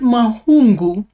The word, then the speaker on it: Mahungu: So, the word Mahungu is constructed of three syllables. Ma, hu, and ngu.